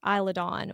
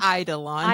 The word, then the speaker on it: Eidolon: to the watchtower of Eilidon, which in, did I say it wrong again? Eidolon. Eidolon. You say it. You said Eilidon.